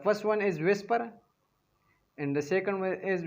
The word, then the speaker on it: VSEPR: Potential electron pair repulsion theory VSEPR VSEPR इसको हम pronounce करते हैं एज विस्पर थ्योरी VESPR लिखा इसी तरह जाता है एंड we pronounce as whisper theory.